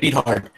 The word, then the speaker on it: Beathard: But didn't matter because CJ beat hard and the 49ers. Wait, that's how you say his name? No, it's Beathard, but it sounds better.